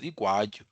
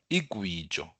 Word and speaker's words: igwatyu: Now, Uh, we have a form of songs known as igwatyu. This is mispronounced nowadays as igwijo. This is igwatyu.